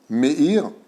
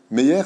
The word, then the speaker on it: Meir: dis mir et me c'est la même chose pareil c'est une façon de le prononcer mir Meille meer c'est le français de Meir meer c'est pas hébreu même e y e